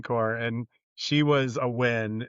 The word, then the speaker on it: Nguyen: in the Marine Corps, and she was a Win, spelled the same way.